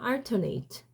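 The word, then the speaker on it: alternate: 알터너티브 알터네팁 근데 여러분이 헷갈리면 안 되는게 알트네이트입니다 알트네이트 발음 강세가 아래 가는 거예요 얘는 알터네이트는 번갈아 가면서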